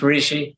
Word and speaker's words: Rishi: Yeah, it's Rishi.